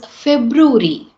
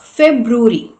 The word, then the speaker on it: February: So, it is February, February, February.